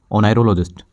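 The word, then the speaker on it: oneirologist: से भी रिलेटेड होता है, उसे कहते हैं ओनायरोलॉजिस्ट। ओनायरोलॉजिस्ट, ये स्पेलिंग बहुत ज़्यादा इंपॉर्टेंट है, ONEIRO, ओनायरो, और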